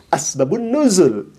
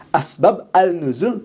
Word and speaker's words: asbabun nuzul: Begitupun asbabun nuzul. Asbab al-nuzul itu ditulisnya, tapi dibacanya harus asbabun nuzul. Ini menandakan bahwa orang ini tidak bisa mengidhofatkan, menyambungkan antara asbab dengan an-nuzul. Harusnya disebut asbabun nuzul.